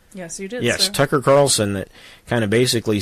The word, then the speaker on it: Tucker Carlson: But still, I think it was Tucker Carlson. Did I say his name right, Sarah? Yes, you did, Yes, sir. Tucker Carlson that kind of basically said, or it might